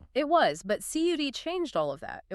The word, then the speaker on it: CUDA: Back in the 2000s, long before AI was a buzzword, Nvidia introduced a software platform called CUDA. That's spelled CUDA for anyone taking notes.